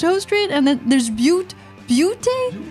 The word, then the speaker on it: Butte: So like my old town was like called Butte County, but it is pronounced B-U-T-T-E.